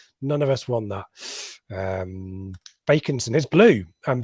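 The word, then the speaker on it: Bakinson: I think Backinson's a very lazy English pronunciation, and I don't think there's a word. If it had a C before the K, then it's back. I think it's bake, like in baking.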